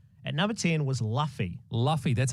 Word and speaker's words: Luffy: Luffy, that's how you say it.